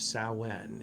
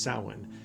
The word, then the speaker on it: Samhain: us, it's the Witch's New Year, and it's pronounced Samhain, even though it says, or it's like spelled Samhain, it's pronounced Samhain.